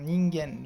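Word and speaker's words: 人間: Là, par exemple, là, on a vu que normalement la lecture c'est kan, ken, mais là, quand c'est à côté du hito, ça se prononce gen, hein, ningen.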